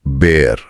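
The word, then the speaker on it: Bär: जाता है ऐ और इसकी ध्वनि आ से बदलकर इ मतलब ए हो जाती है। जैसे अंग्रेजी के कैट या एप्पल में होती है। उदाहरण के लिए शब्द है देयर बेयर।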